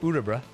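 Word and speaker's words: Örebro: I learned it's pronounced Urabra, which is more helpful.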